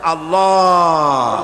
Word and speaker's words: আল্লাহ: পাকের নামের উচ্চারণ হচ্ছে আল্লাহ মুখটা একটু গোল হয়ে যাবে বলেন আল্লাহ আল্লাহ সুবহানাল্লাহ পৃথিবীতে বিভিন্ন জাতি আর স্রষ্টাকে তারা যাকে স্রষ্টা মনে করে বিভিন্ন নামে ডাকে।